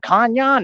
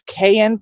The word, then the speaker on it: cayenne: other stuff you like kanyan it's not kanyan this is not you know we're not living in a teepe it's kayen Pepper or Cayenne that's what